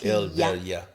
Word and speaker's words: El Valle: Put this on El Valle.